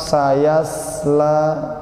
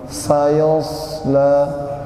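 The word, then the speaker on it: سيصلى: Jangan sayas. Itu sin. Kalau bacanya masih gini, Pak. Sayasla. Itu salah. Itu artinya berubah. Sayosla.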